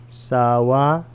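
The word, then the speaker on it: Sāvatthī: 이 경은 사와띠에서 시작된 경인데 사와티 사를 길게 발음하면 됩니다.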